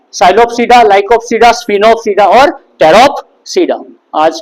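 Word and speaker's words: Pteropsida: और उसके बाद टेरोप्सीडा, इसका पी साइलेंट है, टेरोप्सीडा।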